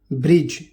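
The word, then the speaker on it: bridge: डी, जी से पहले डी आता है तो साइलेंट होता है। एग्जाम्पल देखिए, एज किनारा, ब्रिज पुल, बजट।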